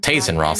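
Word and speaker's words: Tayzzyronth: Tazeront, okay, that's how you pronounce that.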